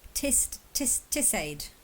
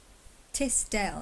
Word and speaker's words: Tisdale: Oh, Tisdale. I did spell it wrong. Tisdale. Dale kind of makes sense because it's like Elladale, which is where I was born. And it's like Telltale.